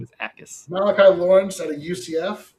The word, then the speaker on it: Jacas: Okay, so Acas. Is it really Acas? The J is silent? It's a very soft J. Yeah. What do you mean a soft J? Like the K in knife.